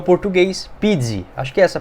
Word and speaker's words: Pizzi: de transferências em erradas que é o português Pizzi acho que essa pronúncia correta 34 anos de idade lembro muito